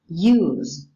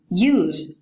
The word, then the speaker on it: use: It's important to notice the difference in pronunciation between use as a verb and use as a noun. Use. 1. The noun takes a voiceless alveolar fricative. Use. Whereas the verb Use. has a voiced alveolar fricative.